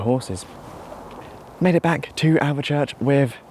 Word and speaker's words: Alvechurch: Just going to point out that I keep on calling it Alvechurch. It's Alvechurch, I got it wrong.